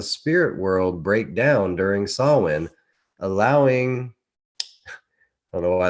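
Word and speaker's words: Samhain: ancient Celtic spiritual tradition in modern modern times sawin a word pronounced sawin is usually celebrated from October 31 1st to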